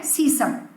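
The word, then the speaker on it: sesame: फिर है सीसम, मतलब तिल. कई लोग उसको सिसेमी भी कहते हैं. That's also okay. Pronunciation different as in different countries. तो सिसेमी भी कह सकते हो, सीसम भी बोलते हैं लोग, तिल भी कह सकते हो, राइट?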